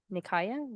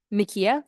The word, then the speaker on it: Nikia: And then she has also met with Nikaya. Did I pronounce that right? Nikia? Thank you.